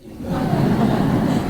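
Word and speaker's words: אמא: 우리는 엄마인데 히브리 말로 엄마는 임마입니다. 임마. 농담이 아니라 농담 아니고요. 진짜야. 예. 그래서 아빠 그리고 임마.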